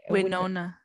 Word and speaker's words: Winona: do you say her name why nona white winona winona ryder writer she's man she is so